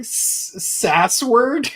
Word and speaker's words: Sasword: so yeah yeah yeah like so was like SAS word SAS word yeah SAS word yeah SAS word